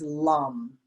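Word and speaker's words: lam: the root chakra is lum l-a-m kind of rhymes with thumb lum lum so we're going to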